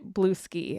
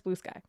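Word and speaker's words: Bluesky: I was also pronouncing it Blue Ski. I saw that Jasmine Watkins was like, is it not Blue Ski? Blue Ski sounds like a rapper. I know, but it's Blue Sky.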